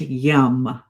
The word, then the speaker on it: yam: And the sound associated here is yam but pronounced yum.